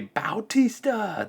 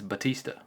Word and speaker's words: Batista: I don't know why they would say Bautista. There's no U in there. It's Batista. It's Batista. That's how it's spelled.